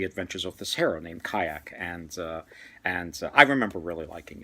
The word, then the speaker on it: Qayaq: Kayak. It's not spelled like the boat.